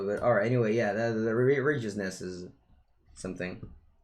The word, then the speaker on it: Righteousness: Alright, anyway, yeah, the righteousness is something. It's pronounced like right.